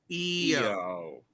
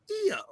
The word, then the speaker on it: Io: your girl she's IO I'm like EO that's I know but it's pronounced eio she's like I don't